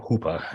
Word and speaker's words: Hooper: Hooper Hooper was uh he was from New England so he pronounced his name Hoopa as I say but he was uh